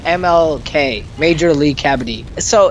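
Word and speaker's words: kabaddi: there's an Indian sport it's called cavity cavity yeah that that's exactly how it's pronounced yep me and Har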